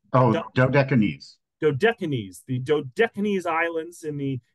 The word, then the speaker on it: Dodecanese: This month, we're traveling to Rhodes and Symi, two jewels of the, I didn't pronounce this one here. I didn't practice this, the Aegean. Dodecanese, Oh, Dodecanese.